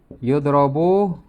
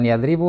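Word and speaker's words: يُضْرَبُ: Yudrobu zaidun. bukan yadribu nih ya. Kalau saya hapus bacanya bukan yadribu. Kecuali kalau di sini ada kalban juga sama ya, tapi kan enggak. Jadi dibacanya yudrobu Zaidun.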